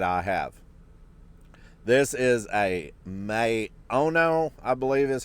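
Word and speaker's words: Maono: microphone here that I have this is a m Ono I believe is how you pronounce it m a o n o and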